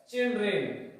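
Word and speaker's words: children: तो सिंगुलर से प्लूरल बनाते समय इनकी जो ध्वनि है वो भी बदल जाती है, क्योंकि पहले इसकी जो ध्वनि रहती है वो रहती है चाइल्ड, पहले इसकी जो प्रोनाउंसिएशन वो क्या रहता है? चाइल्ड। और फिर जब इसका हम बहुवचन बनाते हैं तो हम इसकी ध्वनि हो जाती है चिल्ड, चिल्ड्रेन। तो हमने देखा कि चाइल्ड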